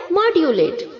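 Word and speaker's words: modulate: इसे हमें कैसे प्रोनाउंस करना है? सेम वैसे ही जैसे अभी हमने थोड़ी देर पहले मैनिपुलेट में पढ़ा था, मैन्युफैक्चर में पढ़ा था, वैसे ही आपको यहाँ पर सेम प्रोनाउंस करना है, मॉड्यूलेट। ओके, MOD के आगे जो U है उसे हमें YOO की तरह साउंड करना है, मॉड्यूलेट, मॉड्यूलेटेड, मॉड्यूलेटेड।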